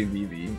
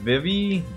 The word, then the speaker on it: Vivi: Yeah, I say Vivvie. I don't Vivie Vivvie. Vivie.